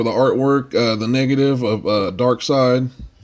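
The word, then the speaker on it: Darkseid: artwork the negative of dark side not dark seed like some people try to mispronounce dark side and mr.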